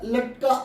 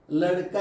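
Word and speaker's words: लड़का: ഈ ലടുക്ക എന്നുള്ള വാക്ക് പലരും ഉച്ചരിക്കുന്നത് ലഡ്ക എന്നാണ്. ലഡ്ക അല്ല, ലടുക്ക എന്ന് മാത്രം പറഞ്ഞാൽ ലടുക്ക. ഒരുപാട് തൊണ്ട ഇതാക്കിയിട്ടൊന്നും പറയണ്ട, സ്ട്രെസ് ചെയ്ത് പറയണ്ട. ലടുക്ക.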